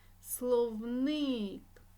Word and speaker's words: словник: і музей наголосна е словник наголосна и хвилинка спілкування я написав